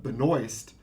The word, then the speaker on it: Benoist: the actress for Supergirl she pronounces her name Melissa Benoist but it's absolutely the French for that would be like Benoit or something along those lines something closer to that anyway by the way